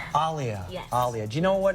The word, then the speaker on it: Aaliyah: Like Muhammad Ali.